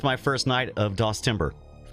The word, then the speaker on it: DOSember: Sammy says, DOSember, the month where Brian plays DOS, but the T is silent.